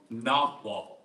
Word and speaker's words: Nagual: Nawal. It's like in Castaneda it's called Nagual, but like the G in Spanish is silent. So like Nawal, N-A-H-U-A-L.